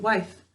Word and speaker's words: wife: washington wife all right what sounds to you here in the word wife good our sounds are wha i this is it i e how are we going to make it say i good silent final e job one write those sounds